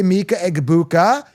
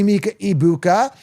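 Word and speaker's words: Egbuka: I there's always this G is not silent I see Egabuka I don't see Ibuka and the G it's like saying egg right you can't say e like you can't just forget the G right so I'm calling him Mika Iabuka that's how I'm reading it that's all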